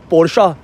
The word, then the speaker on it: Porsche: अच्छा हाँ, वैसे आजकल तो प्रोनाउंसिएशन लोग पोर्शा ज़्यादा बिलीव करते हैं, पोर्शा बॉक्सटर।